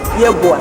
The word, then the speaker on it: Yeboaa: How do you pronounce yours? Yeboaa.